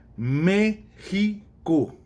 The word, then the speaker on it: México: México. Não é México, não é México, é México. Está vendo? Tem uma separação e tem uma dessas que é tônica, que é forte.